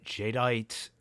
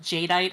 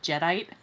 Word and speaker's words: jadeite: off of jewels because they mispronounced jadeite as jedite and that's why I pronounce it jedite anyway yeah that's glorious